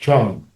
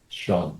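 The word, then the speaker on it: 乘: are familiar with Chinese, the word for vehicle, actually now in these days is pronounced Chung. So, but in the Tang Dynasty and before that, pronounced Shang.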